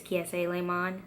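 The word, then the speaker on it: Kiese Laymon: butchered his name but the proper way to say it is kee si le monde so yeah just so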